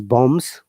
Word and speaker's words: bomb: b not lambs okay uh if it is bombs you have to pronounce b uh it is coms you have